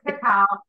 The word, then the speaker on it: cacao: yeah, and they could have did it really easy and just called it Swiss cocoa, and it's spelled cacao, so it's Swiss cacao.